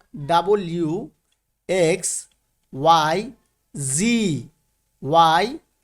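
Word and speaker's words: Z: এরপরে আমরা আগে পড়েছি জেড, কিন্তু এখানে হবে কি জি।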